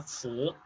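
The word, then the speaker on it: 瓷: Bien, por último, pero no por ello menos importante, la porcelana, que en chino se pronuncia zi.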